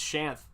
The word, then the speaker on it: Shanth: Do people call you Shanty or Shaw or Shanth or Shaneth? the most common thing people call me is how it's spelled, which I understand. It's Shanth. That's the most common thing people call me.